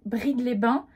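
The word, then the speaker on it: Brides-les-Bains: D'ailleurs depuis le début, je prononce archi mal la ville dans laquelle je suis arrivée à la fin. Moutier, Salins, Brigue-les-Bains. Ça c'est le bon truc, mais depuis le départ je le dis archi mal.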